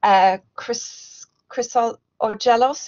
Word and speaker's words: Chryssogelos: I know you told me how to pronounce it, Angelos, but now I'm stumbling over it again. Chryssogelos, is it?